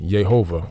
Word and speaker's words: Yehovah: a word or name according to Modern Hebrew this is pronounced yehovah or Yahweh or some other rendition the spoken and written